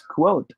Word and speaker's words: quote: should be pronounced as quote not code code right this one should be pronounced with a w it should be quote quote if we are to